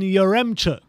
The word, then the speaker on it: Yaremchuk: Next up, we're going to be looking at Roman Yaremchuk. That pronunciation I've learned from you.